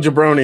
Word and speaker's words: jabroni: Jabroni rhymes with baloney.